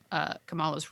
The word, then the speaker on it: Kamala: she just appeared in kamala's room and um it's all watching the show it's pronounced kamala i know we our vice president kamala harris it's different but in the show it's kamala and um and so she